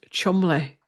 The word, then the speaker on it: Cholmondeley: and I said, did I call them chulmundalays? And it was Chumley.